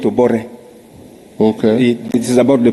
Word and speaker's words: Obote: Like when you're writing Obote, you call it Obore.